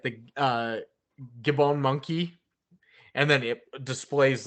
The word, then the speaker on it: Gabon: always said Gibbon um g-a-b-o-n it's gabon gabon gabon not Gavin Gibby good bone Zone